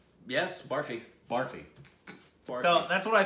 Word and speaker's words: Barfi: And so, is that how you, would you pronounce it? Barfi? Yes, barfi. Barfi.